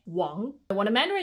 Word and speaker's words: Wang: G because they're so common these are not pronounced but like Wong not Wang Wong when a man name ends in e n